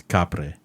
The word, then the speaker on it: Kapre: And it's almost spelled like Capri, but it's Kapre.